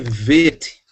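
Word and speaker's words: ב: O Bet, no meio, sem ponto, ele tem som de V. Ele passa a ser Vet, não Vav. Vet.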